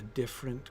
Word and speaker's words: different: How many syllables, pronounced syllables, should there be in the word different, right? Because you can do it with 2 or 3. We can say they different or different. But I think it's 2.